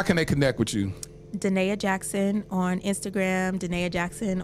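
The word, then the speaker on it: Da'Naia: Well, no, it's phonetically spelled because, you know, everybody doesn't know how to say my name, so I had to go old school. I'll put a link in the description. Yes, it's DUH_NAY_UH_Jackson, regular for my Instagram,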